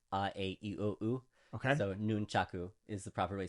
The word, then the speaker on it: nunchaku: the Japanese ways is nunchaku so Japan has five vowel sounds uh okay so noon chaku is the proper way